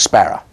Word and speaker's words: Sparrer: But in the East End, they have their own way, as they do in any territory, of pronouncing certain words. And so Sparrow in the East End of London becomes Sparrow, Cock Sparrer.